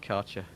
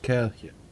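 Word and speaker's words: Kärcher: that yeah oh in the UK it's just culture yeah that's wrong pronunciation buddy well they advertise it like that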